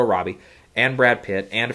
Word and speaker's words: Robbie: with big stars like Margot Roby and uh or Robbie I I was some people pronounce aerobi Margot Robbie and Brad Pitt and